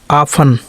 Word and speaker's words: often: टी का उच्चारण नहीं हो रहा है। LISTEN, listen. लिसन का मतलब क्या होता है? सुनना। OFTEN, आफन।